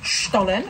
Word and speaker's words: Stollen: We've got some Stollen. Apparently, we are pronouncing it correctly.